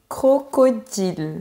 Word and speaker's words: crocodile: Ici, la difficulté vient de la première syllabe. Le son cro. En fait, la jonction entre k et r est un peu complexe. Donc, pour t'aider, tu peux mettre un petit e et dire crocodile.